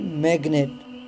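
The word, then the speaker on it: magnet: जी silent रहता है सिवाय एक जगह के, और वो है मैग्नेट। मैग्नेट में जी के बाद एन है लेकिन यहाँ जी साइलेंट नहीं है।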